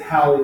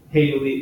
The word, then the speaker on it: Halley: that spelled this way 89% pronounce it Holly which is the way to we believe he did there were few pronounce that Haley like seconds only one that they've got we pronounce it Haley and some of the